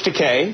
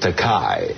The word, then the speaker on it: Takei: 40 years together and he still couldn't pronounce my name my surname properly George you're George teay yeah but he kept pronouncing it takai and I kept correcting him I couldn't get it into his Noggin so I thought I'd give him a way to rhyme that would stick with his head easy for him